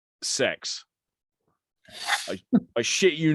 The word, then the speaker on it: CeX: It's spelt, the name of the place, CEX. Yeah, it's commercials on the telly call it sex.